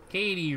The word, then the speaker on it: Katie: Katie rhymes with. What's lady? Lady! And Kitty rhymes with titty, so I'm pretty sure there's a difference.